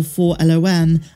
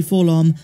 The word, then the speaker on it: 4-LOM: it's pronounced full-on or 4-l-o-n and chal said it's actually full-on but then continues but